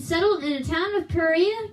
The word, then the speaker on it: Perea: war began and settled in a town of Perea called Pella.